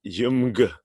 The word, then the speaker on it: UMG: It's UMG are pronounced Jumg.